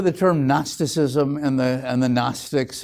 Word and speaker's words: Gnostic: Very often you hear the term Gnosticism and the Gnostics. It's spelled Gnostic, but don't pronounce it that way. It comes from the Greek term gnosis. There you can use the hard G, gnosis, which means knowledge.